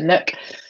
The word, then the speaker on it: Nic: Nish Níorhain. So Nish is kind of the old pronunciation, and over time it's kind of changed to Nook.